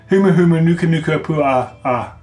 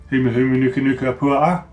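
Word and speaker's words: humuhumunukunukuāpuaʻa: It says, with the Humu, one must pronounce both of the A's at the end. So that was a Kona, if I get this right. Humu Humu Nuka Nuka Pua A.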